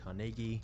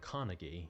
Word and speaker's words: Carnegie: was born in Scotland which is the reason I'm saying carnegi instead of carnegi because this is how the Scots actually pronounce it but Andrew's start in